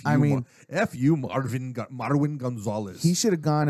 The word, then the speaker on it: Marwin: Marvin, but it's Marvin, not Marvin. It's Marwin. Yes, I know, but it's Marvin.